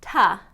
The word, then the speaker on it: to: A lot of times is pronounced ta, ta.